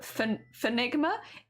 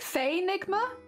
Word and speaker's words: Faenigma: Actually, I've been calling you like Enigma, but Fenigma. Is it Faenigma instead? Because I can change how I'm pronouncing that. If it's Faenigma. Ah, dick. Yeah, the Y in Enigma, and then yeah, Faenigma. Instead of Fenigma.